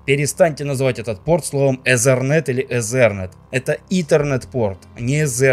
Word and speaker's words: Ethernet: И, кстати, пожалуйста, перестаньте называть этот порт словом Ethernet или Ethernet. Это Ethernet-порт, не Ethernet. Учитесь произносить слова правильно.